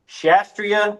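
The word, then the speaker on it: Kshatriya: Um and then you had the Shastria. I don't think you pronounce the K.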